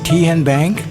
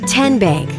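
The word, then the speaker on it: TnBank: How do you say the name Kien Bank? Nope. Kin Bank. Uh-uh. So, what is it? Tenbank. 10 as in Tennessee.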